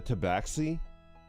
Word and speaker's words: tabaxi: Now the race, if you want one that's a little bit closer to what you are you familiar with a tabaxi? I don't know how to pronounce it.